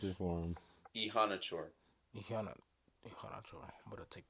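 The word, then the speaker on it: Iheanachor: Yes, just pronounce it Yes, for him. Ihanachor.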